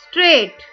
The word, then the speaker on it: straight: Straight. Here GH is silent.